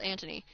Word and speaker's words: Anthony: pronounce the h but I know the H is not pronounced when you have the Italian pronunciation but like you you